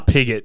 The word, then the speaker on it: Piggott: R. Piggott, his name is. I don't know in Sydney. It's actually rhymes with frigate.